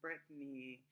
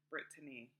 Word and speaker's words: Brittany: I know in America you guys love to pronounce Brittany like that, and that's really cute, but that's not how you pronounce my name. So, Brittany, Brittany.